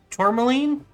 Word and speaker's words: tourmaline: And I don't know how to pronounce this one. Tourmaline?